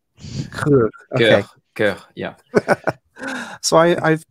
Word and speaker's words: Coeur: I have picked, unfortunately, the banker whose name I can't pronounce. Jacques Coeur. Coeur.